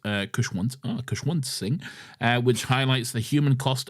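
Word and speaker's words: Khushwant Singh: Lastly, I would highly recommend everyone read Memories of Madness, Stories of 1947 by Kushwant Singh, pronounced Kushwant Singh, which highlights the human cost of the partition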